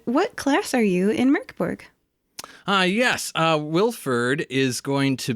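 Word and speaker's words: Mörk Borg: Today, we are playing using the combat mechanics from a game called Mork Borg, which the rulebook spells as M-O-R-K and encourages English speakers to pronounce as M-U-R-K.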